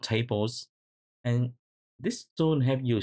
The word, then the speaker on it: tbls: And tbls is pronounced tables, and this tool help you solve this issue.